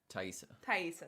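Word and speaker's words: Taissa: Thaisa, thank you.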